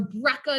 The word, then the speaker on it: breccia: do breccia everyone find breccia or breca depending on how you want to pronounce it right there at the